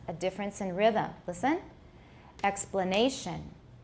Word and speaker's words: explanation: Note that the difference in rhythm between explanation and exploitation is that the second syllable of explanation has a reduced vowel, but this syllable in exploitation has a full vowel.